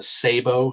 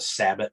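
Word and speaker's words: sabot: also have the what what is technically pronounced the sabo slug but a lot of people just call it the sabbat slug um but depending on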